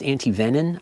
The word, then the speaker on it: antivenin: most cases it is antivenom which did you know can also be pronounced antivenin I didn't know that